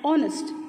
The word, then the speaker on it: honest: hear the word H the alphabet H is not audible so we pronounce it as honest and not honest we